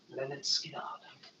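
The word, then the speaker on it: Lynyrd Skynyrd: Next up, we've got is Leonard Skinner, pronounced Leonard Skinner.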